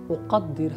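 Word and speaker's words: أقدر: Uqaddir o qaf again. Always, you know, try to pronounce it in very, you know, proper Arabic manner and say uqaddir, not ka.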